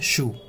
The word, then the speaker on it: choux: See, इसका जो pronunciation होता है वो होता है choux.